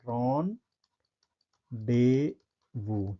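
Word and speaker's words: rendezvous: ये अगला important word है रॉन्डेवू। ठीक है, इसका सही प्रोनाउंसिएशन क्या होगा? Ron Daewoo. ठीक है, ये फ्रेंच वर्ड है। ठीक है, फ्रेंच वर्ड है, इसको पढ़ेंगे रॉन्डेवू।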